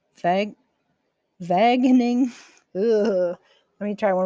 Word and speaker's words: Wageningen: Working with colleagues at Wageningen, no, Wageningen, Vag, Wageningen. Ugh. Let me try one more time. I think you pronounce W's like a V in German.